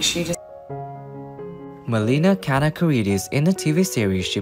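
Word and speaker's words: Kanakaredes: It's scary, like even Kanakaridis, you look at it and you're like, oh my God, there's so many letters. But it literally, there are no silent letters. It's exactly as it's spelled.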